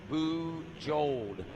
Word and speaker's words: Bujold: here over my headset that is boo jold is how it's pronounced is what i'm being